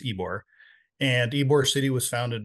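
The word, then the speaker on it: Ybor: called ebore City uh it's spelled YB R it's not wbore it's ebore and ebore city was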